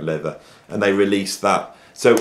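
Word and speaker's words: Läther: leather looks like lava it's pronounced leather and they released that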